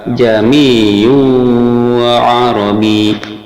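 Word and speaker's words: ءَاعْجَمِيٌّ وَعَرَبِيٌّ: Cara membacanya adalah hamzah pertama dibaca biasa, sedang hamzah kedua disuarakan antara hamzah dan alif atau samar-samar, sehingga kita mengucapkannya jami'u arabi.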